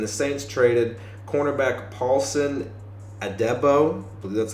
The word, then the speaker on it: Adebo: the Saints and the Saints traded cornerback Paulson adebo that's how you say his name um and